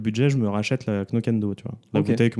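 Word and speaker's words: Knockando: Alors je le prononce Knokendo parce que je le prononce comme ça s'écrit. Alors je pense pas qu'on prononce le K. C'est Knokando, je crois.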